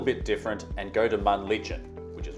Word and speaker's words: Männlichen: Jungfrau is the best known and most popular option, but we decided to do something a little bit different and go to Männlichen, which is right next door.